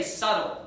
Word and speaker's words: subtle: I was going to say subtle. It's the same way with the words, you know, it's not subtle, it's subtle, because the B is silent, right?